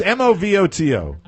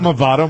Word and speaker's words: Movoto: Well, it's M-O-V-O-T-O. Movoto, I guess. It's not Movato. Movato would be M-O-V-A-T-O.